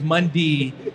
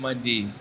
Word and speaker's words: Mundy: And my last name is Mundy. And my entire football career, announcers, coaches, teammates have been mispronouncing my name and calling me Ryan Monday. There is no A in my name. It is Ryan Mundy.